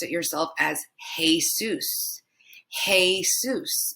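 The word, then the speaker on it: Jesús: pronounced it yourself as Jesus. Jesus. But remember, the E is pronounced E. Just a simple E sound. So that's Jesus, not Jesus.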